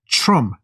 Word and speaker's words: Trump: President Trump, T 다음에 R이 나오면은 Tru로 바뀐다라는 거 이제는 확실히 아셨죠?